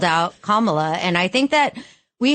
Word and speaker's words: Kamala: Why don't you tell the people what you said about Kamala on Instagram? Well, it's funny because I called her Kamala and people yelled at me. It's Kamala. Apparently rhymes with Mamala.